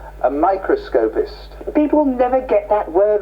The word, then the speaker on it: microscopist: more specifically i read that i hesitate to pronounce a microscopist people never get that word right i wonder